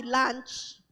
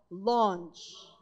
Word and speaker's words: launch: out Into The Deep pakiayos ang pronunciation ha hindi lunch hindi rin lunch lunch oh oh launch Okay Luke 5 ver